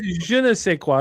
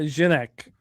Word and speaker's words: je ne sais quoi: And it's je ne sais quoi. It's not genek.